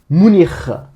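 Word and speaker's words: München: Munich en français, en allemand, parce qu'on la prononce en allemand, pardon, on va prononcer le CH final comme un R. On va dire Munich.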